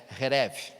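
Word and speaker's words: חרב: ela veio chama é se escreve chereb mas a pronúncia é rev e é uma espada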